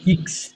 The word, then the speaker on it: Ix: না, ওটা নাম হচ্ছে ইক্স। Six Xerox. না, এটা শুনেন একবার। এই যে এক্স যেটা বলো, ওটা ইক্স ইক্স X X Xerox Upsilon Sechs Salen.